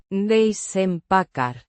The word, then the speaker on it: desempacar: Pronounced Day-sem-pah-car. with the emphasis on the first syllable.